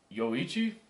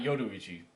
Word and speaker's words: Yoichi: some reason I think I'm going to pronounce Bros name wrong yoichi I think that's bro name not yuichi yo yoichi uh that I feel like